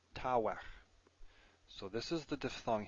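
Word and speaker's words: תוך: shows the other one, tavech. Both begad gefat letters, so they have their dagesh lene. Tavech. Now I suppose I should pronounce this the old way, meaning the historically correct way, tawech.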